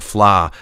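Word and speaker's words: Fleadh: at the Flaw Festival, which is spelled F L E A D H or something. Flaw. It's a Gaelic word, I think.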